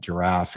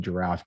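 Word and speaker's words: Jirav: It is pronounced just like the animal, a complete misspelling there.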